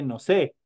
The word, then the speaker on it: nose: inglés y le dice no sé entonces eh Y la niña le responde sí aes como si sabes inglés entonces se escribe obviamente no sé pero se pronuncia nos nose es nariz boca mou